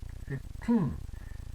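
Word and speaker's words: fifteen: Think of it as second syllable stress, because we want to hear this N. 15.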